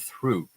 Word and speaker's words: through: The correct way to pronounce them is thought and through. So you have to be very careful to make a TH sound in the beginning, th, and then a hard T at the end.